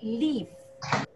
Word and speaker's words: leaf: A pronúncia é leaf.